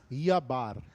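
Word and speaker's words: جبر: Ó, o professor Márcio está dizendo que o J não se pronuncia em árabe, seria Yabar.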